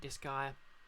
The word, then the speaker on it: Disgaea: I pronounce it Disgaea, as in, wait, Disgaea, as in Pangea.